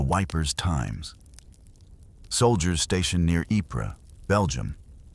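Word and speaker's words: Ypres: Soldiers stationed near Epra, Belgium, a town they famously and affectionately mispronounced as Wipers, stumbled upon a damaged printing press in the ruins of a bombedout building.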